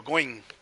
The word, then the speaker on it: Goingene: I was one so now I know goinging and that's the the right pronunciation I believe but anyway um so